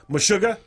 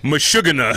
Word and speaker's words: Meshuggah: repeated yeah yeah i mean what else shakshuka meshuggah he said the taxi you're like mashugana i was just waiting as soon as i said the intentional mispronunciation uh to the band name meshuggah uh